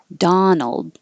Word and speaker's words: Donald: the t donut and the man's name Donald now the vowel is ah so open more Donald's Donuts and the